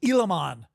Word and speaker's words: Gilamon: axial release I've I've heard that the proper pronunciation pronunciation is elimon g i l a m o n which I believe is short for Elam monster which is a reptile a lizard and that seems to